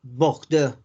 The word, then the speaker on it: Bordeaux: O por ejemplo la palabra Bordeaux. Esa es como un poquito más nasal.